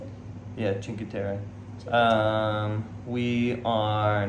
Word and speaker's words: Cinque Terre: Yeah, Cinque Terre. Cinque Terre. We are not necessarily going to Cinque Terre. We're going to a small town outside of Cinque Terre called Manarola. Is that in the Cinque Terres?